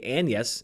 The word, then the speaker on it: Agnes: William and Anna Shakespeare, which is spelled Agnes, but pronounced in I assume the old English way, Anus in this movie, deal with a tragedy in their family.